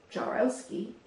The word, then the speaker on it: Jaworowski: My name is pronounced Jarowski, but some people find